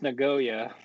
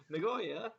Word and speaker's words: Nagoya: It's pronounced Nagoya. Nagoya.